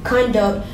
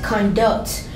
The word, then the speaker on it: conduct: Well, conduct is a homograph, which means it is spelled the same but is pronounced differently. Conduct can be pronounced as conduct, which is a noun, and it can be pronounced as conduct, which is an action verb.